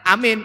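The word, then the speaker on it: אמן: Tapi yang ada Alef, Mem, dan Nun, dibacanya Amin.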